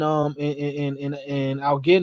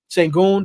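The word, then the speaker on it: Şengün: And Algin, is that how you say his name? I'm throwing off everybody's name today. Sengun, there you go.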